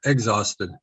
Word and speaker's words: exhausted: and your dog hey and you don't pronounce the h yep there you go